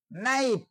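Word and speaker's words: knife: কে এন আই এফ ই, নাইফ। নাইফ শব্দের অর্থ হচ্ছে ছুরি। এখানেও থেকে বাদ দেওয়া হয়েছে।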